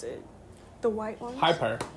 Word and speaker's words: Hyper: How do you pronounce it? The white ones? Hyper. Hyper.